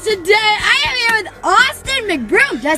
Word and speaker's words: Austin McBroom: youtube you guys today i am here with austin mcbroom did i say it right awesome yes you